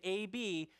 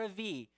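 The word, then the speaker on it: אב: In Hebrew, you can either pronounce it with a B or a V, okay?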